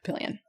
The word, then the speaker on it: Papillion: The building they used was Papillion La Vista High School. Papillion? Papillion. I know it looks like Papillon or Papillon or whatever. In Omaha, we say that Papillion.